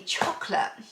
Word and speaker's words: Chocolat: I always say chocolate, but it's chocolat. I know you meant to say it like that or something.